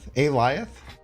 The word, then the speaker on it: Alioth: It's just Alioth. It's like saying a lion. Alioth? Alioth?